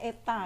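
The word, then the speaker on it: η: Ini membacanya eta ya. Ini kayak huruf Jawa seperti ini, eta.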